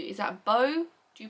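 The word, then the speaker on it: Beau: a u is that bow do you pronounce that bow or do you pronounce that B I'm pron in it bow in my head but that could be wrong and he's kind of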